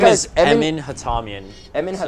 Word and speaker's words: Hatamian: Yeah, my First name guy's is Emin Emin Hatamian. Emin So, How do Hatamian. you spell that?